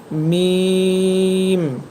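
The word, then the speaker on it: م: আর এই দুইটরের শুকনা অংশ থেকে মিম হরফটি উচ্চারণ করতে হয়। মিম মিম এর পরের হরফটি হবে নুন।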